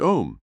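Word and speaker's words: Aum: relaxed mentally and physically the sacred word am pronounced om will be used for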